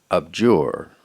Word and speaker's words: abjure: Your next word is abjure. Abjure. Abjure. Am I pronouncing it correctly?